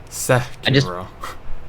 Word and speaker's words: Sekiro: Overwatch, Breath of the Wild, God of War, Sekiro. That's pretty Oh, I cool. think I you wonder what pronounced it'll be this Sekiro year. wrong. It's Sekiro.